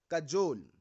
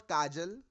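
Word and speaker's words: cajole: कजोल। इट इज नॉट काजल, इट इज कजोल।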